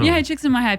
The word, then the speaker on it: Csikszentmihalyi: I was wondering how you pronounce that. Mihai Csikszentmihalyi.